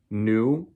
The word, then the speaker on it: nu: This little v is the Greek letter nu, N-U, that's how you say it.